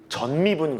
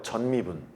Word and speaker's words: 전미분: 이걸 전미분 그러거든. 발음 잘해야 돼. 따라해 봐. 전미분. 다시 전 미분. 전체할 때 그 전이야.